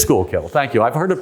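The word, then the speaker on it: Schuylkill: the Lehigh Valley and school kill or I never pronounced that right skull kill um what is it school kill it is school kill thank you I've heard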